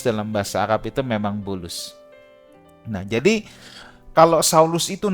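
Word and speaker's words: بولس: dalam bahasa Indonesia Paulus kalau dalam bahasa Arab Bulus ya Arab tidak bisa ngomong P jadi semua B jadi Bulus ya Ini bukan akal bulus tapi nama Paulus dalam bahasa Arab itu memang Bulus Nah jadi kalau saulus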